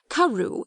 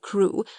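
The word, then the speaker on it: Crewe: difference in the name Madame Pascal pronounced it as if it were Karu instead of crew but that might merely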